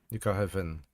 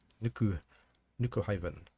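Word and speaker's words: Nuku hyvin: Nuku haven. Okay. Nuku haven. It's keeping this place nice and warm. The Y is like the U in cute.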